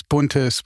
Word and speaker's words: Buntes: stupid German joke, because if you pronounce Buntes with the dialect of Leipzig, it sounds like federal.